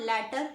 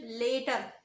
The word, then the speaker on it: later: is later later later now you will not call it let up it is not latter it is later later later the next